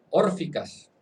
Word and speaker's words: órficas: órficas lleva acento en la O, formando el grupo de los cristianos helenistas.